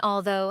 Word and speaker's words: although: Though and although have the ow sound like boat, while thought has the aw sound like bought.